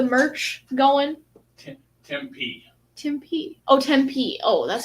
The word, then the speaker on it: Tempe: Oh, Tempe.